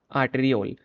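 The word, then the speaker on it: arteriole: एफेंट आर्टियोल और आपका जो एफ एफेंट और एफेंट आर्टेरियोल ठीक है आर्टेरियोल इसको ऐसे प्रोनाउंस प्रोनाउंस करते हैं तो ये क्या करते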